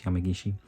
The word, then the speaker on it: Yamagishi: to saying Yamagishi-san because that's how Corey was pronouncing it. Obviously it's Yamagishi.